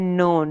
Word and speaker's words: known: के यहाँ पे भी साइलेंट है, नोक दस्तक, ठीक है। KNOWN नोन, नोन का मतलब होता है जानना, ठीक है, जानना, नोन।